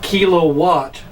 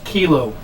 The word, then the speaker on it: kilo: And kilo is a big one. It's not kilowatt. It's not kilowatt, it's kilo.